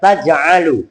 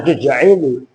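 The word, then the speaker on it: تَجْعَلُ: itu membacanya taj'alu. Ja'ala ya ja'alu. Jangan tuj'ilu karena dia ja'ala apalagi menasobkan dua fi'il sekaligus.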